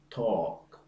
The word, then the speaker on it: talk: one a as in talk walk stalk the L is not pronounced talk walk and talk the